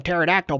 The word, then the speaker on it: pterodactyl: That B2 is he's higher than pterodactyl butthole. I go to the bathroom like a pterodactyl. Dude, the P is silent.